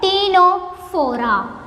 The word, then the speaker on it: Ctenophora: Similarly, here the first letter is also silent. It is called Ctenophora.